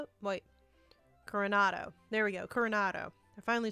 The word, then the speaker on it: Coronado: Coronado.